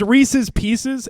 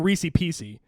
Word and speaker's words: Reese's Pieces: No, it's Reese's Pieces, and they pronounce them Reese Piecey. And it drives me fucking crazy because it says Reese's Pieces. They're pieces of Reese's. It's not Reese Piecey.